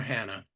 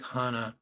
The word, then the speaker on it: Hana: judge ourselves over right I like the way you pronounce my name Hana or Hannah Hana I like Hana but I sometimes I say Hannah I have a general